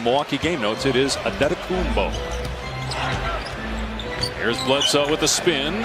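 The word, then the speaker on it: Antetokounmpo: Pronunciation guide in the Milwaukee game notes, it is Adetokumbo.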